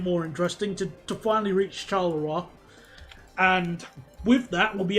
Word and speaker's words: Charleroi: The British pronunciation is Charleroi. It's Charleroi. Or closer to the French. The French and British one is Charleroi.